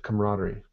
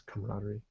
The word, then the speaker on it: camaraderie: interesting spelling and an interesting pronunciation but we pronounce it camaraderie c-a-m-a-r-a-d-e-r very strange spelling and pronunciation that's camaraderie spells like french style oh english language here